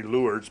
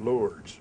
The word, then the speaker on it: Lourdes: of Liu dal was it's actually the French pronunciation most of us in America say lures but it's Liu dong